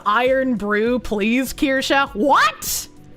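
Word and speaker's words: Irn-Bru: Pronounced iron brew.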